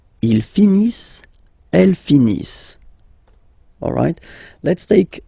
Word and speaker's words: finissent: So remember, as usual, when we've got the verbs E-N-T not pronounced. Ils finissent.